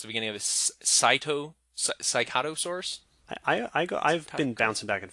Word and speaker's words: Psittacosaurus: which is I can never remember how to pronounce the beginning of it. Cycatosaurus. I've been bouncing back and forth. I go right? Psittacosaurus.